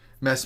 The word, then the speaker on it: Mads: It's spelled Mads, but I had my Swedish friend. Oh, okay. Yeah, I had my Swedish friend learn me well, my Danish friend learned me some Danish.